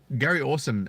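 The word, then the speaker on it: Gary Orsum: And yeah, so Gary Awesome, it's spelled Gary space ORSUM. So 1 R in Gary, and Awesome spelt phonetically ORSUM.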